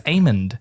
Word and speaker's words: Aemond: It's Aemond. Aemond. The way they say it in the show.